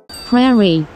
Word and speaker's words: prairie: Prairie. Prairie first. Prairie, prairie rhymes with fairy.